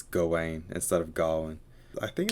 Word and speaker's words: Gawain: oh is that i get i assume he's pronouncing it that way because that's official it's gawain instead of garland i think it was that nerd who pronounced it galwin like when i was in a secondary school